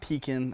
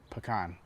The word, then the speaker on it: pecan: chip pecan pie the correct way to say that is pecan not Pekin or pecan but pecan being from Texas as